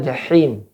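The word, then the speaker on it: الجحيم: Jahim hanya ha besar apa kecil? Ha kecil di sini. Ya, maka ditipiskan, ya. Atau lebih mudahnya dia ha gepeng, maka digepengkan tenggorokan. Tempat keluarnya juga dari tengah tenggorokan.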